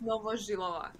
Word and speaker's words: Novozhylova: It's Novozhylova.